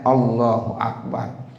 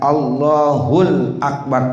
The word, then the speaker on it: Allahu Akbar: salat mengucapkan allahul Akbar kalau bacanya allahul Akbar ada Alif lamnya kan mestinya Allahu akbar begitu sekarang ada yang